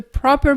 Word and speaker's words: proper: He's the proper person for the job. Il est la personne appropriée pour ce travail. Proper. Avec l'accent tonique aussi, tu sais, en anglais, on insiste davantage vers le début du mot.